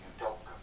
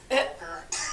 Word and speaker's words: Udoka: You doker. You doker. You can't say that with the R hard, man. It's an A.